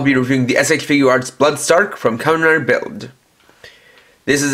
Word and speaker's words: Blood Stark: for those wondering why I'm calling him Bloodstark instead of Bloodstock and might not have seen my previous videos, that's because the way his name is spelled instead in Japanese more lines up with the name Stark rather than Stock, which has a completely different pronunciation.